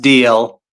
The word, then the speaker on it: Dalzell: It's apparently pronounced DL. It's like a Scottish or a Gaelic name, but I like to use all the letters.